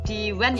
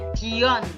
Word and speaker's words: dion: Bukan diwan ya, dion bacanya.